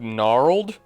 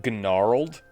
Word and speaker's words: gnarled: heard of it before so I pronounced it gennarold uh yeah like the idiot kid that I was Willow staff